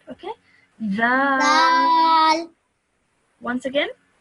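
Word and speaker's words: ذال: Zal. Okay, excellent. Now this one, just take the tip of your tongue and touch it to your top teeth when you say that, okay? Zal. Once again. Zal.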